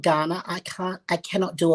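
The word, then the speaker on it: Kaurna: which is indigenous culture is the ghana people but it's spelt k a u r n a yep i had to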